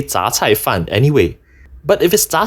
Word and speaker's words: 什菜饭: (Hong, 2022) (Foodgrove, 2021) (Soon Lee Mixed Rice, 2018) Shouldn’t this be read as shén cài fàn or shěn cài fàn instead? Like the 什 (shěn) in 什么 (shěn me)?